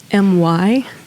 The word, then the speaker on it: Mylissa: Oh, and before we dove into the emotion of the conversation, I was like, is it Mylissa? Yeah. I'm like, am I pronouncing this right? And she's like, yes.